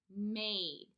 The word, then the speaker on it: made: And now, because my word has the magic E or silent E at the end of it, I know that my A will not say the short A sound anymore. It will instead say the long A.